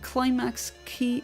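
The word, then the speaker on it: Qlimax: wonderful awesome heart style concert or festival called climax key uh pronounced or spelled not not pronounced spelled q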